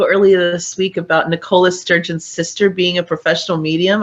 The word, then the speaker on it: Sturgeon: Well, you sent me an article earlier this week about Nicola Sturgeon's sister being a professional medium.